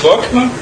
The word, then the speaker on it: Bockmann: de virtualização com o Shen, do colega Gunther Bockmann. Me desculpe se eu estiver falando errado aqui, Gunther. Me corrija aí. Como é que pronuncia seu sobrenome? É Gunther Bockmann.